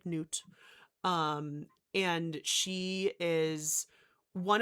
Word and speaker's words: Nut: It is spelled like nut. It's pronounced like noot.